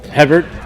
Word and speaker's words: Hebert: He Bear. Come on, I read. That's not how it's pronounced, though. Hebert.